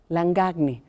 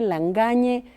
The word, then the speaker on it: Langagne: Mira, me preguntaron cómo decirlo, porque la gente que habla francés dice Langagne, como nadie se atrevería a decir Chaquespeare, por ejemplo, ¿no?